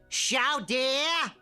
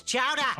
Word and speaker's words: Chowder: Sha dear. Sha dear. It's Chowder. Say it right.